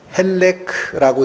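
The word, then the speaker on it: חֵלֶק: 발음이 이 소득이라는 게 헬렉라고 읽히는 히브리 단어입니다. 그냥 발음만 잠깐 기억해 주세요.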